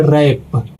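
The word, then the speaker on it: wrap: यानी कि इसका नियम है कि डब्ल्यू के तुरंत बाद आर नहीं आना चाहिए। लेकिन इसमें आर आ गया है। तो इसीलिए दोस्तों यहां पे भी डब्ल्यू साइलेंट हो जाएगा। तो इसको पढ़ेंगे रैप। अगला है दोस्तों।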